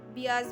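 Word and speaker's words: Beas: तो बीज भी बोला जाता है या बियाज भी बोला जाता है प्रोनाउंसिएशन वाइज।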